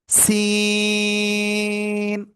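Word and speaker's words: سين: জিহ্বার আগায় সামনে নিচে দুই দাঁতের পেট ও আগায় লাগাবো, লাগিয়ে সিম্পল এরকম একটু আওয়াজ হবে, চার আলিফ টান হবে। সিন।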